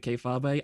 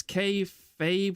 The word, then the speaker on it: kayfabe: It's kayfabe, not kayfabe. Look, I've only ever heard Kirsha say that, and Kirsha says it as kayfabe, okay? So, look, if my Kamiyoshi pronounces it one way, then obviously I'm going to pronounce it that way too.